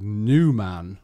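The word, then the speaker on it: Numan: I think it's for something called New Man, which I think suggests new man. I mean, it's spelled N-U-M-A-N, but I think the suggestion is that you're a new man.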